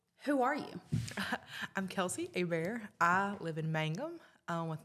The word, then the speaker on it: Hebert: It's spelled Hebert and pronounced Hebert. So whenever you see, like with Kelsey, she said her name was Hebert and they misspelled it. We did not. That is Louisiana French spelling for you.